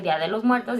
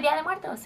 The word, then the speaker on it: Día de Muertos: And also, if you say Día de los Muertos, it's gonna sound weird to us.